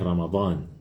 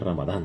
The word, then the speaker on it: Ramadán: La palabra Ramadán viene con la letra Dad, ¿sí? La misma que ya mencionamos, la letra Dad de Fard, de Balin, Maghdubi, etcétera, ¿no es cierto? La misma letra Dad. Entonces Ramadán, ¿sí? Pero si no le sale, pues Ramadán nomás, el Ramadán, ¿no es cierto? Que es lo más común que pronunciamos.